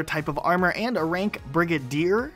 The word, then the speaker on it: Brigadier: heard also another type of armor and rank Brigadier it's not Brigade er now some of these can actually change based